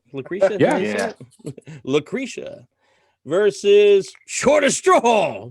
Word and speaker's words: Lucretia: Lucretia?